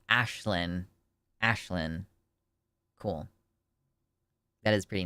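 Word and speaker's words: Aisling: Oh, it's pronounced Ashlyn.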